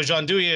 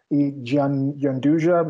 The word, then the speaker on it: gianduja: So gianduja is actually an Italian name.